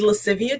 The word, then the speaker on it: Lascivia: very beautiful name and I just wanted to pronounce it correctly is Latin um it is lascivia Tre Latin for playfulness and sultriness which I